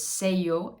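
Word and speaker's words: sello: stamp and that's in spanish the word is say yo s-e-l-l-o or in french it's tampum so those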